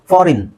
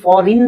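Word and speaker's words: foreign: word ಜಾಸ್ತಿ ಯೂಸ್ ಆಗಲ್ಲ ಫಾರಿನ್ ಫಾರಿನ್ ಸೋ ಫಾರಿನ್ ಅಲ್ಲಿ ಐ ಸೈಲೆಂಟ್ ಆಗುತ್ತೆ ಆಕ್ಚುಲಿ ಅದು ಫಾರಿನ್ ಅಂತ ಅಲ್ಲ ಫಾರನ್ ಅನ್ ಅ ಸೌಂಡ್ ಬರುತ್ತೆ ಆಕ್ಚುಲಿ ಅದು ಅ ಸೌಂಡ್ ಬರೋಕ್ಕೆ ಇ ಸಾಕು ಸೋ ಫಾರನ್ ಸೂಟ್ ಸೂಟ್ ಅಲ್ಲಿ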